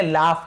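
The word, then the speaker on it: laugh: लाफ। इसे क्या पढ़ेंगे? लाफ पढ़ेंगे। लॉग नहीं पढ़ेंगे। लाफ। फ उच्चारण। लाफ।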